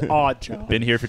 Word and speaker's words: Raghav: And it says your name is Rajav. Okay. Yeah. Odd job. Pronounced odd job.